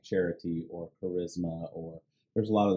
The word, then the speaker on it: charis: In the Greek, the word for grace is charis. Charis. If you transliterate it into English, it's charis. It's one of the words, root words, where we get our word for like charity or charisma, or there's a lot of the words that